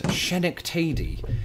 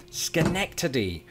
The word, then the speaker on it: Schenectady: on the first syllable i believe my first guess was shenik tadi it was only while chatting with one of my fabulous patrons that i discovered its true delivery schenectady you see the name